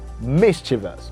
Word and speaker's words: mischievous: is mischievous the stress falls at the first syllable mischievous okay mr and also